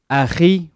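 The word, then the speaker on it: أخي: You're supposed to say it Aki, but because that letter is not in English, it's pronounced as Aki in English. And obviously, in New York, you know what I'm saying, they say Aki, so put y'all in game.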